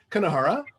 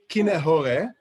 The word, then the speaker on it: kinehore: So the word is really kinehore. Americans just say kanahara, which is fine. It's totally fine. It's kinehore.